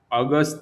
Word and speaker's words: August: Juni means June, Juli means July, August means August. German usually pronounce J as a Y, so they called Juni, Juli, August or August.